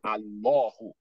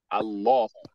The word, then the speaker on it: Allah: Anytime you have Ismu Jalala, Allah, if any word is not coming after it, you know you are pronouncing that Hamza. You are pronouncing Hamza to Waslu as if it takes fatha. That is why you have ah at the beginning. So he said Allahu, Allahu.